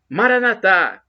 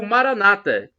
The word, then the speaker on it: Maranatha: aramaico dialeto de Jesus eu clamo o Maranatha como dizemos nós católicos ou Maranata como dizem os evangélicos ou protestantes nós dizemos com a tônica na última sílaba os nossos irmãos separados com a tônica na penúltima sílaba não importa como se